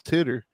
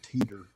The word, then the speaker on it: Titor: I always said it was Titter. Is it not Titter? Titor. Yeah. George Noriar always pronounced it John Teeter. Teeter. Okay, Teeter.